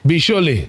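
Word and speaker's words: Bicholim: Bisholi.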